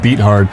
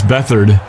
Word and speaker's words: Beathard: It looks like beat hard. It's Beathard. Huh? Technically, his last name is pronounced Beathard. It looks like beat hard, but it's Beathard.